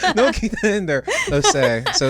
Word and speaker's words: Osei: Osei.